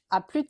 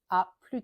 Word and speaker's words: à plus: à plus tard mais à plus avec le S qui est prononcé cette fois ou bien à la prochaine.